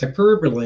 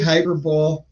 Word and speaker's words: hyperbole: you talking about and they're like hyperbole and i go yeah i know what that word is they're like that's what you're saying i'm like no not they're like spell it so i spelled it out on a napkin they're like yeah that's hyperbole and i'm like oh hyperbole hyperbole polaris or interchangeable strong